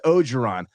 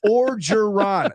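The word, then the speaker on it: Orgeron: it's the same thing as everyone's saying Ed ogeron see that's not some weird pronunciation I don't know that's just everyone being a it's or giron there's an o or an r at the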